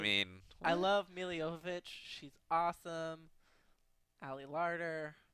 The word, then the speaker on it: Jovovich: love Mila Jovovich. She's awesome. Ali Larder. I've always pronounced her last name wrong. I thought it was Djokovic. Me too.